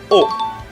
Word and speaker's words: を: Tout d'abord, il faut savoir que la particule s'écrit avec l'hiragana wo, mais se prononce O.